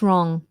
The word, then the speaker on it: wrong: ask what's wrong what's wrong what's wrong wrong now wrong is an interesting one we do not pronounce the w we go straight into a r r wrong and the